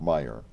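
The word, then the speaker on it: Mayer: Wadsworth school and it's spelled m-a-y-e-r m-a-y-e-r and pronounce Meyer Meyer and then we had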